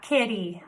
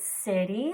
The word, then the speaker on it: city: Not kitty, soft C here, remember that vowel after, so it's city, like Grants Pass is the city we live in.